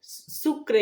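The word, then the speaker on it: Sucre: Quito Bolivia লা page সুকার সুক্রে actually বানানটা হয় কিন্তু উচ্চারণটা সুকার নেক্সট হচ্ছে উরুগুয়ে এর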